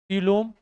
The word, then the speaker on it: coelom: को बोलेंगे कैविटी, या इसी को क्या बोलेंगे, सीलोम।